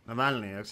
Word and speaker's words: Navalny: Navalny.